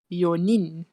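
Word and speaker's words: 四人: But it'll be a bit difficult to pronounce it. So that's why they change it. Instead of this one, it'll become yonin.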